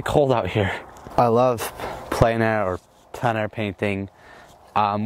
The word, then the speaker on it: plein air: that's what everybody says and that's actually how it's spelled I said planer painting in my video because that's how some people say it but um I'm calling it plan a from now on because that's the right pron